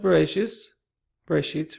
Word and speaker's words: Bereshit: Okay, so Parashat Bereshit, rather. You have to pardon my Ashkenazis. In my daily life, I use the traditional Ashkenazi pronunciation. However, in these classes, I will be using the modern pronunciation that I used in the other video series that I produced thus far.